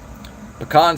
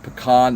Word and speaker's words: pecan: Pecan smoke, and it's pronounced pecan, not pecan.